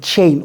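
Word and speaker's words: Chaine: Apparently that's how you pronounce it, Chain.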